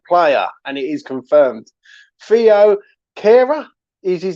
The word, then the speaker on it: Thilo Kehrer: have signed a player and it is confirmed theo cara is his name you know i mean i was pronouncing it so wrong yesterday with mitchell but